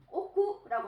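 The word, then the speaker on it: 億: 자, 억은 옥구라고 하네요. 옥구. 자, 우리가 1억이라고 하면 이치옥구라고 합니다. 이치옥구. 그래서 억은 옥구하고 발음을 해주세요.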